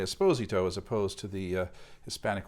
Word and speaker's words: Esposito: sent for rafael esposito i'm presuming it's pronounced the italian way esposito as opposed to the hispanic way esposito so rafael esposito made